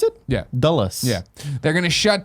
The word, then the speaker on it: Dulles: They continue listing airports that you only know if you've ever flown into the Washington Dulles area. Is that how you pronounce it? Yeah. Dulles.